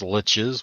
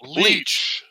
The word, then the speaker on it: lich: friends that pronounce lich as leech or leash. Yeah, no, Guess what? sucker. They're pronouncing it wrong.